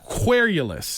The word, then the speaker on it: querulous: Querulous. Querulous. Like Cuervo. If you think that's what I've been doing the whole time. Just think of Jose Cuervo. Think of Cuervo and then querulous.